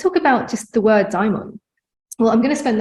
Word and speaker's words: daimon: least my interpretation of this word daimon or daimon. You can spell it D-A-E-M-O-N. The way I spell it is just a more ancient Greek version of it.